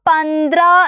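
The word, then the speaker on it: पंद्रह: പന്ത്ര എന്നാണ് ഇത് വായിക്കുന്നത് ദ്ര എന്ന് പറയാൻ വേണ്ടിയിട്ട് നമ്മൾ ന പ്ലസ് ദ പ്ലസ് എടുത്തു എന്നിട്ട് അതിന്റെ അടിയിൽ അല്ലെ ദ യുടെ അടിയിൽ നമ്മൾ എന്ത് ചെയ്തു കൊടുക്കുകയാണ് ഒരു വരയിട്ടു കൊടുത്താൽ അത് ദ്ര എന്നാണ് വായിക്കുന്നത് അല്ലെ അപ്പൊ പന്ത്ര എന്നുള്ള സൗണ്ട് ആയി അല്ലേ പന്ത്ര അല്ലേ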